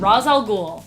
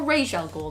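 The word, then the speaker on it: Ra's al Ghul: that one number five Raz al Ghul or Rachelle ghoul depending on how you want to say it like Batman Roswell ghoul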